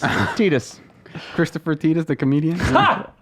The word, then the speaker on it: Tidus: It's pronounced TD. It's Tidus. Christopher Titus, the comedian. It's spelled differently. That is, and they have said it's Tidus canonically. They're also wrong. So I said it Titus growing up my whole life, but yes, Titus Tidus.